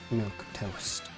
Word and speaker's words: milquetoast: How do you pronounce that? I need to check this. Milk toast. Okay, I was right.